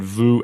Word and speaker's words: vu: yeah cuz for years I was pronouncing them as if they rhymed which is obviously wrong it's not Vu and two everybody but that's what Kam